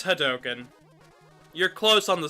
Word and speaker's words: hadoken: oh yep I think I pronounce it a little a little off because I say hi token instead of hadoken it's hot token dang it okay I